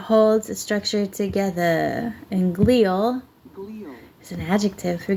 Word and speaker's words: glia: Glia, even though it says it's pronounced glia. Oh, let's try this one. Glial. Yeah, okay, we're going with glia because it says glia right here, not glia.